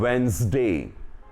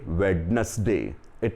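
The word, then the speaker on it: Wednesday: वे यू can follow उस reduce lines on वेनसडे when थे डे in Hindi आज बुधवार है don't say वेडनेसडे way people will hear with old woman woman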